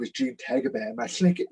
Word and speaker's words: Tagaban: And I'm also part Filipino, and so my last name, Tagaban, in the Philippines is pronounced as Tagaban.